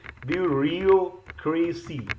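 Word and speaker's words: bureaucracy: से बना है ब्यूरोक्रेसी सो अगेन बू रियो क्रेसी this is हाउ you should pronounce this is also so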